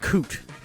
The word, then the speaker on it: David Coote: Curious Case of the Premier League ref David cot that's how you say his name but this